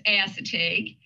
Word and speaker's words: Assateague: bit about the i i make sure i'm pronouncing this correctly assateague island national seashore it is if you're very close it's assateague oh well yeah yeah i didn't want to